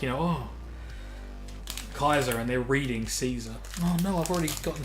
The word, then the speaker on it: King Caesar: Of course, some people pronounce it as Kaiser. But yes, the... which I just say Caesar, but yeah.